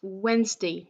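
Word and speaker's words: Wednesday: bien when the nose day mais qui se prononce wayne state donc comme si on avait enlevé le dé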